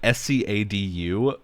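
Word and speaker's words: Scadutree: It's spelled Scadu Tree, like Scadu, which is an old spelling of shadow.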